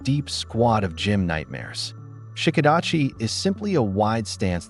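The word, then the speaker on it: Shiko-dachi: Shikadachi. That's spelled s h i k o d a c hi.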